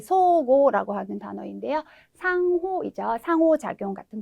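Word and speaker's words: 相互: 네, 서로 상자는 기본은 소우라고 하는 발음을 기억을 하시면 되는데요. 첫 번째 나와 있는 단어는 어떻게 될까요? 네, 소고라고 하는 단어인데요.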